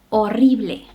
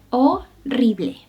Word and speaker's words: horrible: En otros casos, no la pronuncies. Repite después de mí. Hotel, hotel, hospital, hospital. Por último, horrible, horrible.